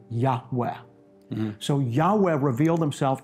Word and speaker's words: Yahweh: Yud-Heh-Vav-Heh, which most Semitic scholars, but those are four Hebrew letters, as you know, which most Semitic scholars believe is pronounced Abrethi, Yahweh.